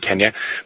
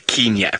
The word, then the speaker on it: Kenya: it's also you live you you go to Kenya you don't go to Kenya it is Kenya and Tanzania not Kenya and